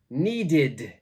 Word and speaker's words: needed: this word is needed needed so it's the ID pronunciation number four please check